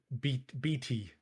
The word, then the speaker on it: Beatty: Yeah, so BT.